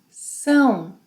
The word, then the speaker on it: são: Vocês, eles, elas são. Nasal sound.